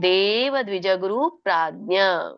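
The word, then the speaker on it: ದೇವದ್ವಿಜಗುರುಪ್ರಾಜ್ಞ: ಶಾರೀರಂ ತಪ ಉಚ್ಚತೆ ಹರಿಕೃಷ್ಣ ಇದರೊಂದು ಉಚ್ಚಾರಣೆ ದೇವ ದ್ವಿಜ ಗುರು ಪ್ರಾಜ್ಞ ಬಿಡಿಸಿದಾಗ ದೇವ ದ್ವಿಜ ಗುರು ಪ್ರಾಜ್ಞ ಆಸ್ ಇಟ್ ಇಸ್ ಬರುತ್ತೆ ಅಲ್ಲೇನು ಅಡಿಷನ್ ಇಲ್ಲ ಹಾಗೆ ಹೇಳಿ ದೇವ ದ್ವಿಜ ಗುರು ಪ್ರಾಜ್ಞ ಬಿಡಲಾರದೆ ಹೇಳಬೇಕು ಗ್ಯಾಪ್ ಕೊಡಂಗಿಲ್ಲ ಪೂಜನಂ ಪೂಜನಂ ಶೌಚಮಾರ್ಜವಂ ಶೌಚಂ ಆರ್ಜವಂ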